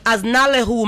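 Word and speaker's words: አዝናለሁ: what but i've listened to the song but as nalehu means sorry and it's spelled a s n a l e h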